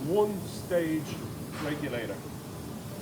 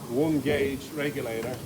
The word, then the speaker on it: one-stage regulator: It rhymes with gauge, and most people will say something like one-gauge regulator if they were asked about it, but the proper name is a one-stage regulator, okay?